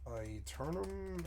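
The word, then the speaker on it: Aeternum: Is it New World Eternum? Is that how you say it? Yeah, that's correct.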